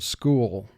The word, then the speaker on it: school: sounds these teams represent ch with two lines under it represents the sound k as in the word school ch with a dotted